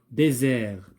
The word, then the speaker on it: désert: Désert, j'entends Z. Dessert, j'entends pas Z.